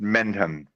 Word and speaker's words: Mendham: Yeah, and Thomas, it's pronounced Mendham in New Jersey.